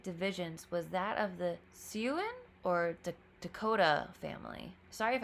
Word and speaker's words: Siouan: Okay, Siouan pronunciation. Siouan. Oh, it's Siouan.